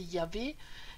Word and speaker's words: Yahvé: Le Yod est présent dans le tétragramme divin, à savoir chez les Hébreux, ils ne le prononcent pas. nous on n'est pas hébreu, donc je vais vous le dire, c'est Yahvé.